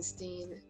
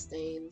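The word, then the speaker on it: Berenstain: a kid as Berenstein, as in Steen. So does my dad, but now people are saying it's Stain. Yeah, that's it. It's the last couple of letters, whether it's spelled one way or the other. Yeah, and I definitely, like, I remember it as Steen, Berenstein. And it's the same thing, apparently it's Stain.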